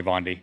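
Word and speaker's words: Bondy: who created the route jordan uh von deadly b-o-n-d-y fondy that's his his real name i've talked to him about this before because i can't pronounce his last name and so he's like yeah you just call me bondi bobby okay so so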